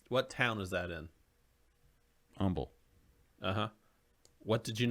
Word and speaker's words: Humble: Humble. What did you not pronounce in that word, humble? There is an H in that. Yeah, but you're not pronouncing it, right?